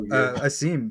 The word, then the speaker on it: Asim: It's awesome? Is that the pronunciation? I'll go with you. Awesome, yeah. It's hard to, it's like a throat thing.